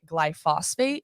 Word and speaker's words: glyphosate: some of these fruits i always pronounce it wrong it's gly glyphosate is that correct yes yes yeah so this stuff